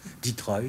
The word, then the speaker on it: Detroit: usines d'automobilees de la région de dettroit que l'on prononce Detroit c'est-à-dire patrel loin du